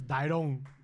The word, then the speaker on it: Dairon: You're the only one that says Dairon. Dairon. Oh, because that's right. His girlfriend always give me shit because in Spanish, you put emphasis on one vowel or the other. My mother has always said Dairon.